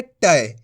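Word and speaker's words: टै: तो इसका उच्चारण कैसे करेंगे? टय। कैसे करेंगे? टय। अय करके करेंगे।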